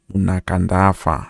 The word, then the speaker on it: Munakandafa: Munakandafa, I believe that is how it's pronounced.